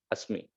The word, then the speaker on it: asmi: You can pronounce is like asmi.